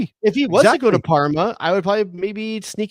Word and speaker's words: Parma: I said Polmo and I meant Parma. My My apologies to all Italians whose city starts with a P. I meant Parma, not Polmo.